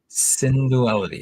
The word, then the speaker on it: Synduality: This is the new series called Synduality or Syndality. Synduality is pronounced.